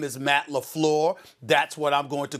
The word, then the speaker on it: LaFleur: never do it again his name is Matt Lafleur that's what I'm going to call him and I'm not gonna play with the pronunciation of his name ever again my apologies